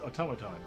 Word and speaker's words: automaton: It's like automation, but it's pronounced differently. It's automaton, yeah.